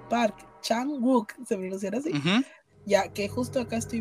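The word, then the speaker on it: Park Chan-wook: ya lo habíamos mencionado se pronuncia mejor es park chan wook park chan wook ya que justo acá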